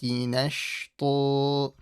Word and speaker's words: نَشْطًا: And you got the stopping rule with a double fatha. That's why you stretch it. Let's read it all together. وَالنَّاشِطَاتِ نَشْطًا.